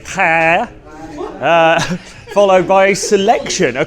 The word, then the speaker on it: paella: We have had paella, or if pronouncing it correctly, paella, followed by a selection,